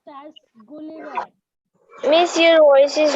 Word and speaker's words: Gulliver: Okay, that is pronounced as Gulliver.